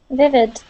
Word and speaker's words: vivid: Vivid. Okay, vivid. One more time. Vivid. Vivid. There, much better. Okay, when you pronounce that during the reading, it sounded more like a T, saying vivid.